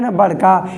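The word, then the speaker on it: knob: है प्रोनाउंस एशन में के साइलेंट हो जाता है साइनेप्टिक नोब के अंदर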